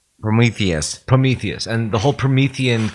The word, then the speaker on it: Prometheus: So we identify more with um uh uh I keep saying it wrong. Parometheus. Prometheus.